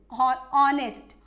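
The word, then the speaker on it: honest: है नेक्स्ट हमारा एन ऑनेस्ट मतलब एक ईमानदार एंड ऑनेस्ट पर्सन एक ईमानदार व्यक्ति यो ऑनेस्ट है इसमें भी क्या ए रहा है ऑनेस्ट ए ए रहा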